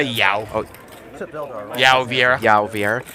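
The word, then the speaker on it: João: I would say Yao.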